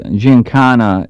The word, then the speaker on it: Giancana: i ask my question you say your name cantana and everybody else says that gintano which is right well actually ginkana is uh i i think phonetically the way it should be pronounced but out of being out of chicago i have that hard kind of a sound so it's ginkana okay um i want